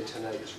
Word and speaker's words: tinnitus: Tinnitus, or as the British say, tinnitus, ringing in the ears.